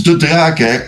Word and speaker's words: De Draeck: Is it or? Which is normal to be like pronounced? It's De Draeck.